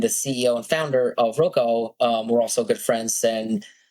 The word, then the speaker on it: Roku: Yeah, Roku? Roko, yeah.